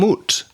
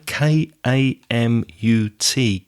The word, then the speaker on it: Kamut: my eyes open come kamut I think is the pronunciation k a m u t kamut wheat Trio is